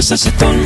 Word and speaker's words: Sachetón: ¡De capullo, sachetón! No es cachetón, tampoco reggaetón, se pronuncia sachetón con...